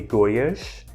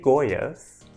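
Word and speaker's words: Goiás: would be to say goish but I do know that in Brazil I think unless you're from Rio you don't pronounce the S at the end as a sh so I'll just say goas and I don't think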